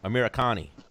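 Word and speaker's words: Amirkhani: How do you pronounce that dude's name? Amerikani. Yes.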